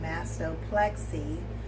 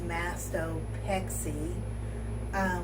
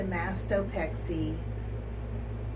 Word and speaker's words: mastopexy: I have been saying it wrong. I've been saying mastoplexy, but it is mastopexy without the L. So, when they showed me the mastopexy scars, I was so